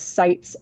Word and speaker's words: SITES: And Sarah, it's sites si tes. Um for some reason it's spelled all caps, but I haven't found it to be an acronym.